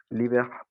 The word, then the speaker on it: libèrent: Ils le tuent et libèrent la grand-mère saine et savie du ventre du loup. Excellent, très bien. Attention, ENT. Et il le tue. On ne prononce jamais ENT à la fin.